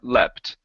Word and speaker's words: leapt: so we're GNA yeah we're going to change that to a short e sound my heart leapt my heart leapt okay